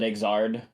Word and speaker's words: Xrd: Um so uh yeah, tell us about Guilty Gear exert uh or however you want to pronounce it. Come up with a fun pronunciation for us. I know the title screen calls it Exard, so I have to